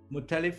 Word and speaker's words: Muttalif: It is at, tell me how to pronounce your last name. Muttalif, M-U-T-T-A.